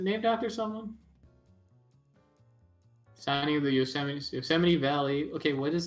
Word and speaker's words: Yosemite: was about to happen so you say it like joe's might but yosemite like the same yeah it's 70 cent yeah it's a proper